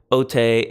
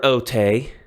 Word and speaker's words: ὅτε: examples of that now there's another otay but the accents are different so I want you to be aware of it has the accent on the Omicron the other otay has the accent on the epsilon it still has a